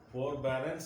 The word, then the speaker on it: forbearance: Forbearance is a noun. I like my friends forbearance. Forbearance. This R must not be pronounced. R is silent. Forbearance. Forbearance.